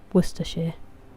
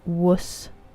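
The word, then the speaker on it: Worcestershire: How is worshshire pronounced? Worershir. So like worshshire and uh then the city is Worcester and Leester as well.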